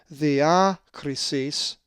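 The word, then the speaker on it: διάκρισις: If you said diakrisis, you are correct, as the accent is over the alpha, diakrisis.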